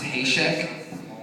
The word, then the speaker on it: Haesecke: In German, it's pronounced Haesecke, which means, it's loosely translated, cornered rabbit.